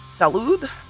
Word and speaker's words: salud: only know medical spanish is it salute that's what i was gonna say but i couldn't remember salud it is salud oh my god i